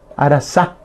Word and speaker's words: arasa: Porque le ponen la Z, Arazá, y no es Arazá, sino es Arazá, con S, Arazá, y acento en la última A, sin tildar, por favor.